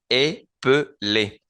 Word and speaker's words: épeler: Noten que en el primero, en el base, en el infinitivo, yo no pronuncio la segunda E como E. Épeler.